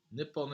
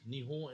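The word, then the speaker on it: 日本: quake so nihon yeah nippon is how you write nihon is how you say it with an h godzilla cinemas if there's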